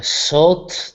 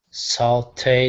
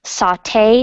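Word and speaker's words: sauté: you can see so you pronounce the second syllable saute saute the mushrooms good can everyone please repeat after me saute the mushrooms so if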